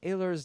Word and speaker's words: Ehlers: 10% of that goes over to the Ehlers Danlos. Ehlers. God damn, I fucked that up. Ehlers. No, it's No, Ehlers. you said it right the first time.